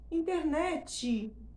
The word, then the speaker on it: internet: Usamos a vogal tônica, internet. Internet. Percebe? há uma forte exploração da sílaba tônica e uma evidente diminuição do volume, não há gás em final de palavra, o que é bem natural, até fisiológico, certo?